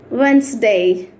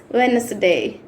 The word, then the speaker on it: Wednesday: is placed between 2 consonants, we should not pronounce D. Okay? Sandwich. Let's see other common words which we daily use. Wednesday. Wednesday అంటూ ఉంటారు. It's Wednesday.